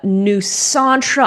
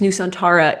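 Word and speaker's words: Nusantara: enough for me uh new santra I'm not going to give it to you because I do kind of need the separation of syllables new santara uh newana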